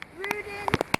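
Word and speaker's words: Ruden: Rudin. Rudin. How do you spell that?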